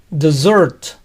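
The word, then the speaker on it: dessert: pronuncia desert desert y postre se pronuncia desert the short con zeta aún cuando tiene una doble s este estado en los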